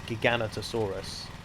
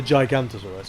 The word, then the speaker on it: Giganotosaurus: i think that the i think it's pronounced the giganotosaurus or the giganotosaurus or whatever not the gigantosaurus but it's similar enough to that um is in jurassic